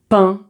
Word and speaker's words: pain: Et donc là, tu as 20 pain et d'autres mots que tu peux écrire avec